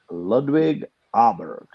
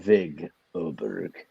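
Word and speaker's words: Ludvig Åberg: right I thinkg sorry W is usually pronounced like a V Trent LV there's no W in his first name oh yeah I said love but the but the a with the circle on top is pronounced as an O I believe yeah I got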